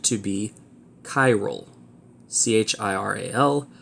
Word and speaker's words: chiral: said to be chiral CH IR al pronounced chiral which is from the Greek for hand handedness is